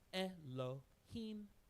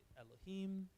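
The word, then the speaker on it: אֱלֹהִים: that's the L remember then there's a DOT next to it there so that's the l e that's a e sound Elohim so that's Elohim this is so that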